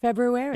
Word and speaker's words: February: Phelps, who said, no, you are supposed to pronounce the R. February.